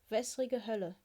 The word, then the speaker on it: Wässrige Hölle: This base is pronounced Wässrige Hölle, which is, Zwei is 2 in German, so water hell 2.